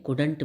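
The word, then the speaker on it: couldn't: नॉट को short में कुडंट भी बोलते हैं, कुड नॉट को शॉर्ट में कुडंट बोलते हैं, COULDNT, इसमें एल साइलेंट रहता है, तो हम इसे कुड बोलते हैं, कुडंट।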